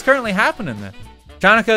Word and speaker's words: Chanukah: okay so it's currently happening then jannika is pronounced hot like hanukkah oh okay so i